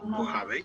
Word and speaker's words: Mojave: That was the Mojave Desert, Okay, it's the pronounced Mojave.